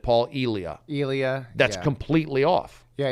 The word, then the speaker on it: Elia: on the pre-podcast how would you like to pronounce your name uh elia works elia paul elia paul and i said paul elia elia that's completely off yeah yeah but the